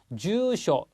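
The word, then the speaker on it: 住所: 노토 노트지 다음이요 주쇼 자 발음 잘 들어 보십시오 주쇼 앞에는 길고 뒤에 쇼가 짧습니다 자 이렇게 주쇼 앞에를 짧게 발음하시는 분들이 가끔 계신데요 이러면 못 알아듣습니다 앞에 주는 길고 뒤에 가이 않습니다 쇼라고 꼭 발음을 해 주십시오 다음에 나와 있는 게요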